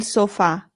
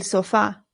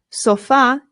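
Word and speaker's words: sofá: In English, we put the stress on the O and we say sofa. But in Spanish, the stress goes on the A.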